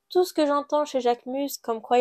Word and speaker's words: Jacquemus: Je sais pas trop comment les autres prononcent ça, mais moi je prononce Jacquemus.